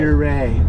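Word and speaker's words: Ouray: Now, from a Coloradan, how do you pronounce this town? Uray or Uray? Uray. Say it like you're gonna stick it in Uray.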